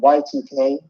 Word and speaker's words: Yiik: One of the have you heard of this game called Y2K? No, I don't think so. It's called It's spelled Yiik.